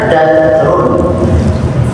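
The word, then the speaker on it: دثور: Bi fathil dal wa iskan ta al-muthallathah wa huwa al-malul katsir. Ya, bacanya dathur. Dalnya fathah, sa-nya sukun, dan ya. Al-muthallathah ada titiknya tiga. Salah satu titiknya tiga. Jadi dathur kita ya.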